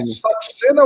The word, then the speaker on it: Saxena: Mas indiano Saxena seria é Saxena ou Chacena? Como pronuncia o... Saxena. Saxena.